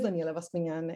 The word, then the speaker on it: Daniela Bascuñán: 10 with yours so thank you lois for pronouncing my name properly i really appreciate that um so my name is daniela vaspinan and my research is primarily interested in how